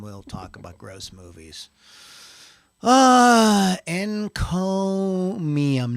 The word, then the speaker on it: Encomium: Encomium, not Neum. Encomium. I know. This is when I first wrote this a month ago. I'm going to say it wrong, so it's fine. Encomium. Like comb. Like comb your bald head.